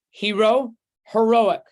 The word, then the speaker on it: heroic: stress is different right hero heroic it's kind of like photograph photographer sometimes the stress on the syllable changes those are important for